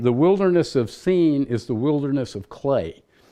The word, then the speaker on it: Sin: But actually, that word in Hebrew it's pronounced sin, and the word means clay.